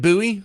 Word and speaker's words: Bowie: We're going to start off with David Buouie. I know the English people like to pronounce it Bowie, but they're wrong.